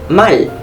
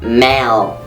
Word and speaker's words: mal: Right, it's mal. Mal, because we are using the letter A. The sound A. Not mal. Mal, that's English accent. But here we only say mal.